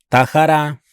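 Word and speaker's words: טהרה: La letra Hei al final de la palabra Tahara no es pronunciada.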